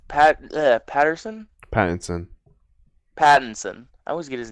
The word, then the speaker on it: Pattinson: I want Robert Patterson Pattinson. Pattinson. I always get his name wrong.